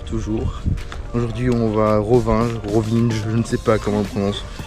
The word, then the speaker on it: Rovinj: Rovinge, je ne sais pas comment on le prononce. Normalement, le J c'est c'est comme un Y. Donc c'est Rovini mais les gens rien.